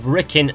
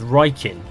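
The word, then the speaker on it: Rikkin: actually are one being the silly mispronunciation of rickin as riken yeah that one's probably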